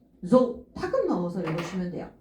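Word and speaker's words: 増: 증 자 저할 증자 음독 잘 보셔야 돼요 소 아니에요 소 소 소 조 타급 넣어서 읽어주면 돼요 조 조 이렇게 읽어주면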